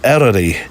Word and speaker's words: Eryri: It's not so much new, but the pronunciation that's being now used is the Welsh one, isn't it? Eryri National Park. Eryri, I think I'm saying that correctly, National Park.